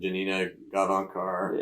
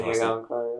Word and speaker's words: Janina Gavankar: Janina Gavankar. Yeah. That's how you pronounce her. Janina Gavankar.